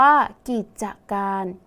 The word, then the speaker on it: กิจการ: คะ กิจการ อ่าน ว่า กิจการ นัก เรียน สังเกต คำ ว่า กรีด นะ คะ มี จ จาน เป็น ตัว สะกด แต่ ออก เสียง พยัญชนะ ท้าย เหมือน ด เด็ก ใช่ ไหม คะ ดัง